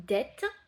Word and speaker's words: debt: effrayé scared une dette c'est a det le b ne se prononce pas ça s'écrit d e b t mais le b à la fin ne se prononce pas donc on dit de